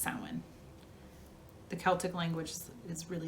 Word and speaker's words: Samhain: the year samhain and it looks like sam hayne s-a-m-h-a-i-n but it's pronounced samwin the celtic language is